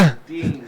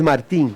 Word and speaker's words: Martín: Martín, la correcta pronunciación. La correcta pronunciación es Martín.